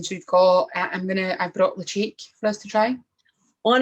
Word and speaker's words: Ledaig: Ledaig looks like Ledaig, but it's not. It is Ledaig. So it's the Gaelic pronunciation, the specific Gaelic native to Mull, I suppose, on the island that it's just from.